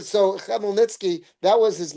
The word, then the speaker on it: Khmelnytsky: Khmelnytsky. Thank you, Shelley. I could never pronounce it properly. Thank you so much. All right. So, Khmelnytsky, that was his name.